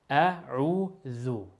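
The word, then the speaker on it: أعوذ: The dhal, dear brothers and sisters, is pronounced just as you almost pronounce the th in the English language. The. Calm, no stress at all. The. That's the sound. So we say a'udhu, calm, dhu.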